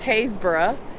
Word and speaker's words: Happisburgh: called Hayes Borough Beach it spelled like you would think it's called Happisburgh but it's Hayes bura and I wanted to